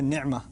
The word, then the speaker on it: نعمہ: کا لفظ ہے نعمہ۔ نعمہ عین کو میں ذرا زور سے اس لیے پڑھتا ہوں کیونکہ میں عربی پڑھتا رہا ہوں اور پڑھاتا رہا ہوں، تو مجھے اردو کے تلفظ سے ذرا الرجک ریاکشن ہوتا ہے، تو میں نعمہ ہی کہتا ہوں۔ ہمارے ہاں مجھے پتہ